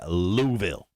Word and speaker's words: Louisville: the uh the racetrack right it is in louisville jake thompson has beat it into my head